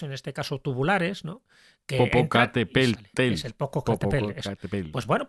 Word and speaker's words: Popocatépetl: Popocatépetl.